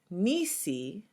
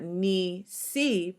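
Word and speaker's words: נִסִּי: When we look at the word Nisi, Nisi, we see that it's not Ni-si because it has the samek has the dagesh in it. It becomes Nisi, Nisi.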